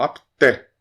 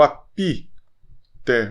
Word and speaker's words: apté: O E é aberto. Depois vamos ver esse W com som de U. Aqui o P é mudo, ok? E aqui tem som de U. O apté. O apté. Não leia o apité. O apité, não. É mudo, né? Pela metade. O apté. Só fecha o lábio.